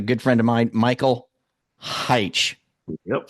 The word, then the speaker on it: Hyche: here with a good friend of mine, Michael Hyche. Yep, said it right. Did I Thank get you. it right? You got it Michael right. Hyche.